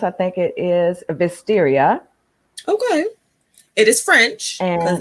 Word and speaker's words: Vestiaire: Well, I was going to say, I did hear it pronounced. I think it is Vestiaire.